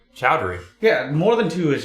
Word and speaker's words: Chowdhury: never know how to say your last name chowdhury chowdhury yeah more than two is just too much